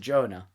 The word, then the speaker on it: Joanna: Although it's spelt Joanna. Oh. But she pronounced it Jonah.